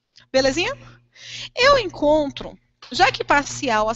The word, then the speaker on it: parcial: Quando você pronuncia, você não precisa nem gritar, você só precisa pronunciar harmonicamente. Parcial. E esse ao aqui é a nossa sílaba tônica. Belezinha? Eu encontro, já que parcial, a sílaba tônica que está aqui no final, ela é, portanto, uma oxítona.